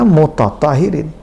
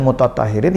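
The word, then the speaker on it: مُتَطَهِّرِين: Berbeda dengan mutatahiriin yang hanya ha nya saja yang dobel. Sementara to nya tidak, tetap dalam bentuk yang normal dan biasa, mutatahiriin.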